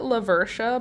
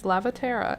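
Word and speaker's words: Lavatera: But I want to call it that because that's what it looks like when I think about the word. Lavertia. It's Lavaterra. L-A-V-A-T-E-R-A. There's no Lavertia in there.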